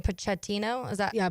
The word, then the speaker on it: Pochettino: Pochettino. Is that Yeah, Pochettino.